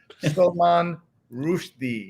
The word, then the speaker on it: Salman Rushdie: So we're going to just correct everybody's pronunciation. It is Salman Rushdie.